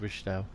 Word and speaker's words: Wiesthal: That's how you spell it, we'll pronounce it, Wiesthal, is just here.